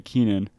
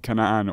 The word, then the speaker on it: Keenan: pronunciation of your name, when people don't say Keenan and they do, they say Kanan or Kenan.